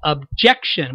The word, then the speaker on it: objection: him to pronounce it objection with you all the emphasis most of the emphasis really on the second syllable which is the way you would normally say the word but with edgeworth I